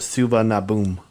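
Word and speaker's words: Suvarnabhumi: and stuff yeah this next one chris is pronounced suva naboom airport bangkok thailand souvenir souvenir boom is not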